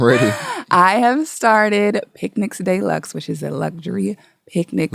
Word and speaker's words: Deluxe: It is spelled just like deluxe, but it's not pronounced like deluxe. It's deluxe, French, okay?